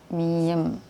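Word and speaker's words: 미음: Ini kita bacanya M ya. Ya mama, masih, mulai ya, M. Cuman ini kadang-kadang nanti ya kalau kita belajar baca, M ini suka kedengerannya kayak B, miem gitu.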